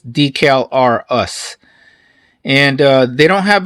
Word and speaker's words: Decalrus: here the calvaris or probably they want you to pronounce this decal r us and uh they don't